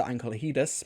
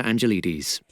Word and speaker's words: Angelides: Golden Child by Peter Ankelhidis. I need to check that pronunciation, 1 second. The Golden Child, written by Peter Angelides. Angelides. I was close.